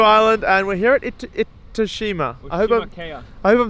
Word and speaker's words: Itoshima: Okay, start with one syllable. It. It. Oh. Oh. Shima. Shima. Now put all three together, Jorden. Iridilima. Gold star. Itoshima.